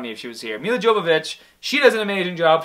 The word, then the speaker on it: Jovovich: uh Mila uh Joe I always say her name wrong mil Jo joic jovovic Jovovich there we go my wife would make fun of me if she was here mil Jovovich she does an amazing